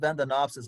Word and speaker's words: Vandaenopsis: It would be pronounced Vandanopsis, but it's kind of spelled Vandaenopsis, Vandanopsis.